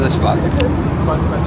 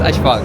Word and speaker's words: Ashfaq: boa risada porque ele tentou me ensinar como pronuncia Asfaq. What's your name? Yes, my name is Ashfaq. My name is Ashfaq.